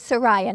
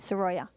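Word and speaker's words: Surya: up Josh Saroja Isaac it is suryya not Saroja I apologize ahead of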